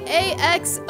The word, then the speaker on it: axolotl: Hey Google, how do you say A-X-O-L-O-T-L? That's pronounced Axolotl.